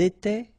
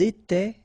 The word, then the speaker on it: étaient: étions, vous étiez, ils étaient, elles étaient. Alright, so exactly the same rule. Remember, final S, here, here, final T, and then here, E-N-T, you don't pronounce them.